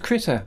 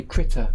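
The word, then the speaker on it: Krita: i can't deal with say critter as in like a a little animal a little critter um swedish yes i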